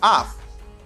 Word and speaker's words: of: This is off, double F, and this is of, only one F, and it gives you V sound.